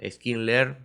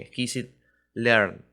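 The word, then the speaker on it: scikit-learn: algoritmos es la librería skin le o Hay unos que le dicen exquisit learn es decir como usted lo prefiera pronunciar está bien pero es la que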